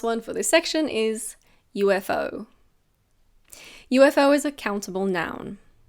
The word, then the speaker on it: UFO: We pronounce each letter. So we don't say eufo or UFO. It's UFO. UFO.